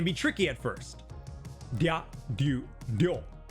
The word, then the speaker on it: Ryu: Dya, dyu, dyo. Like the Street Fighter character. It's often anglicized as Ryu, but it's actually one syllable.